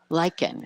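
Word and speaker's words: lichen: So Lyken, it's spelled L Y K E N.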